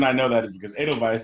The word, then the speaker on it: Edelweiss: know that is because edelweiss is spelled with a w in a cell like a v also volkswagen volkswagen you